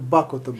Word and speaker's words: Бакота: яка виноробня Бакота Бей мені сказали що правильно Бакота Бакота добре Бакота будемо правильно ставити наголос Отже винарня бакотська Затока почала